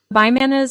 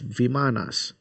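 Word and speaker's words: vimanas: Bmanas are these levitating ships that are found in the vadas in the mahabara and in the piran.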